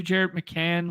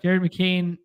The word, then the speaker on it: Jared McCain: well we could do Jared mccan with uh uh did I say it wrong again yeah Jared McCain Jared McCain it's because there's a